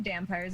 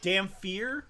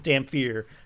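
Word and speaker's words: Dhampir: Eric, what you dampires eat? It's Damphir is the actual Damphir? pronunciation. It's the actual it? pronunciation is Damphir.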